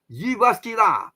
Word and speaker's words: Jyväskylä: JY is not, Malaysia is called G, no. JY becomes Y. So it's in Finnish, so Jyväskylä, in the sky.